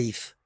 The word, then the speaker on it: If: Sí, mira, dice Dif. ¿Lo ves? El castillo de Dif. Nosotros, por supuesto, lo llamamos el castillo de If. La D al principio no se pronuncia.